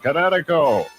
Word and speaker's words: Kinetico: Oh, son, you should have remembered kinetic as in kinetic energy with an O on the end. Kinetico.